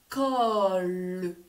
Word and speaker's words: col: Col. La limace. Col. C-O-L. Col. Attention, ce n'est pas la colle pour coller des feuilles, car il n'y a pas de Madame E muette.